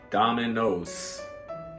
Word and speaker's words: Domino's: So Domino's. Don't forget the S sound.